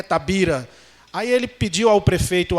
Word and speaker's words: Tavira: que existia Tabira Oi e a pronúncia Tavira por ser próximo com a Espanha na divisa é Tabira aí ele pediu ao